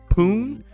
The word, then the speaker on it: Pune: It's poon poon plume p like pang like yeah the e is silent poon poon all right